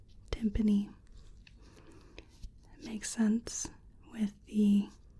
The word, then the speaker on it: tympanic: The tympanic membrane sounds like the word for the drum timpani, and they share the same root, tympanic, timpani.